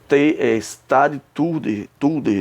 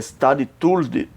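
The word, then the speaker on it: stadhouder: Stade Tulder, né? Em holandês, né? Stade Tulder, tá vendo aqui como se pronuncia, que era da Holanda, era um título específico holandês equivalente a chefe de Estado.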